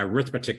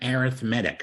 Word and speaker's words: arithmetic: an arithmetic sequence now it's spelled the way same way you spell arithmetic but don't call it a arithmetic sequence it's a it's an arithmetic sequence it's kind of like